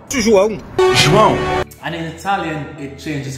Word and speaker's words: João: In Portuguese, oh, this is difficult because of the nasal pronunciation. It's João. João. João.